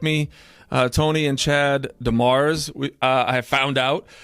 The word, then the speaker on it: DeMers: Uh Tony and Chad Demars. We uh I found out um is how we pronounce it.